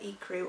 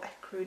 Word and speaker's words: Ecru: a little bit of Ecru or Ecru depending on how you say it, and that's 1N2.